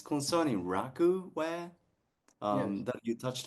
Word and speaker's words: raku: first of all, okay, it's pronounced, for those of you not aware, it's pronounced in America raku. So Mm-hmm. raku, but there's American raku and there's Japanese raku, and it's really quite different.